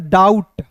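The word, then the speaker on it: doubt: और देखिए इसे पढ़ेंगे डाउट बी यहां पे बी और टी एक साथ रहेगा तो बी साइलेंट होता है।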